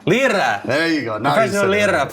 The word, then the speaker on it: Lyra: Lyra. Lyra.